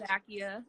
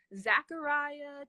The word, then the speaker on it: Zacchia: which most people don't even get close it's Zakia you nailed it you did good awesome yes what do you often get called instead what do they pronounce it I get everything from Zachariah to Zakia to Zach I get zachia a